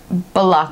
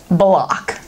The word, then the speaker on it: Belloq: How do you pronounce it? Belloq Hoof Hearted.